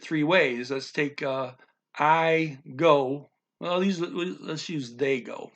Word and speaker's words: de: Of is DE, same in Spanish, but they pronounce it G because any trailing DE is G in this language.